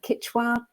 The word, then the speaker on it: Quechua: lineage of and i'm not sure if i'm pronouncing this correctly but uh i'm sure death david will correct me if it's wrong quechua tobacco us is that correct yeah okay yeah